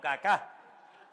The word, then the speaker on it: Kaká: Había un jugador que se llamaba, menos mal que tenía el acento en al final. Caká, no caca, sino cacá.